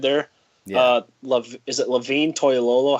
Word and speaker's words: Toilolo: Is it Levine Toilolo?